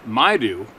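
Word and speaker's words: Maidu: Dear Steve, I just listened to a story from the Maydew, pronounced Maydew, man from Oroville, California.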